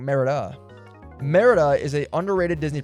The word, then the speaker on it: Merida: Meredith is a underrated Disney princess. There I said it. There, I said it. Uh, excuse me. I actually said her name wrong. Merida.